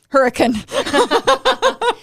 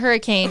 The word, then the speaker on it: Hurricane: We'll make an ended up in Hurricane. And it's not hurricane, it's hurricane. It's hurricane. Yeah, you have to know how to say it pronounce right.